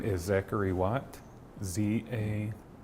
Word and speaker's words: Zachary Watt: God okay har question say your name and spell it for me my name is Zachary watt Za a z a c h a r